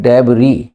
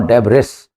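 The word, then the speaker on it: debris: word आपके सामने डबरी इसकी स्पेलिंग में एस आ रहा है लेकिन बोलना आपको है डबरी इसमें एस नहीं बोलता है the accent of this word इ डबरी नॉट डे बरेस लेकिन स्पेलिंग में एस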